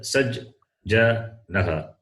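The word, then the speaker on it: सज्जनः: You can read like this. Saj. Then ja. Then naha. Read together. Saj. Ja. Naha. Saj. Ja. Naha. Sajjanaha. Naha.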